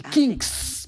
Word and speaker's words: Kinks: Kinks. Ah, c'est un K. C'est Kinks.